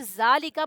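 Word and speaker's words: ذلك: Simple note, ज़ालिका is pronounced ज़ालिका बट इट is written without Alif.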